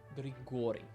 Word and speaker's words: Grigori: Turns out it's on the second syllable. It's Grigori. Like this guy, Grigory Rasputin.